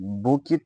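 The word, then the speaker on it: bouquet: They welcome the chief guest with a बुक बुक बुक of flowers. ये T silent है तो बुक किया flowers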